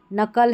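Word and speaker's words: knuckle: देखिए नाइट है, नकल है, यहाँ पर नैपसेक है, ठीक है, नैपसेक है, और ये नेल्ट है। यहाँ पर सभी में जो है के साइलेंट है।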